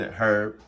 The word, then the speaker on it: herb: season is onion and herb it says herb but you know the h is silent onion herb uh onion and herb